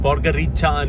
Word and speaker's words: Podgorica: It's from Bar to Podgorica They pronounce it as Podgirica They pronounce 'C' as 'Cha' Finally, I've reached Podgorica